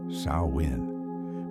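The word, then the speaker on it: Samhain: This is Samhane, pronounced sawin, meaning summer's end.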